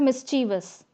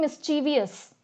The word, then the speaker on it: mischievous: spelling of this word mischievous try to attempt this question guys the way I am pronouncing it gives you the spelling so I'm saying mischievous I'm not saying mischievous so people who are